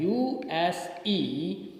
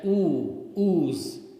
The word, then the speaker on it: use: Okay, so for example, ya is pronounced before you in the following words. Okay, use. We write it as U-S-E, but we don't speak it as ooze, right? We speak ya, use.